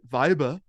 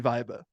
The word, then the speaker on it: Weibe: last name which is spelled w-e-i-b-e of course we pronounced it viba of course z v